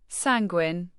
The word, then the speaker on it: sanguine: Sanguine. Pronounce it as san- guin with the san like sand without the d and guin like penguin without the pay.